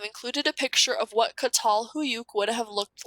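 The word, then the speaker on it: Çatalhöyük: you're reading text they'll typically give you a pronunciation guide okay so this one is katal huyuk okay it's founded in 7000 bc so remember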